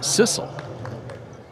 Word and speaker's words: Cecil: In the USA, it would be pronounced Jaden Cecil, but with the last name CE C I L. But the pronunciation we got says sisle.